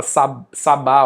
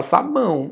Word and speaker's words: sabão: Você viu aí que eh sabão é um o. Ninguém fala sabá, ó. Você fala sabão.